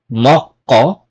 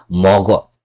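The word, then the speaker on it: 먹어: napagitna na siya so it's not moko or moko It's mogo okay an yung pangalawang example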